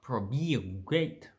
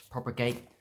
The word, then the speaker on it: propagate: fluidly so propagate okay so it's not probably great that's that will be quite hard to say it's propagate you know is one we don't shorten proper gate has three syllables okay let's have a